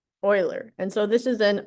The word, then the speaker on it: Euler: his name is pronounced oiler oiler and so this is an oilerian path so it's pronounced like oiler Um I don't want I don't remember what nationality he was.